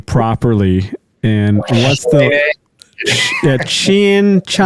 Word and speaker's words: Chene: meaning of the name Shin comes it's a French word and it's a shin like the part of your leg your KN right and